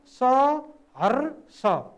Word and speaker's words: सहर्ष: होइन त हो, तर उच्चारणमा हेर्नुहोस् त सहर्ष, यहाँ उच्चारण गर्दाखेरि यो स पातलो स उच्चारण हुन्छ, यहाँ लेख्य भाषामा पिर्चिरेको स छ सहर्ष।